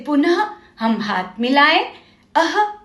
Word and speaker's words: पुनः: और इसका जो ध्वनि है इसका उच्चारण ह की तरह एक हल्की सांस छोड़ते हुए किया जाता है। जैसे देखो, पुनः, आपको एक सांस छोड़ते हुए ह का साउंड आ रहा है, पुनः।